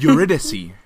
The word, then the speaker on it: Eurydice: Oh, it's Eurydice. Eurydice. Yeah. Eurydice, a soft C. That makes sense. Yeah, and it's a D instead of a D. So Eurydice.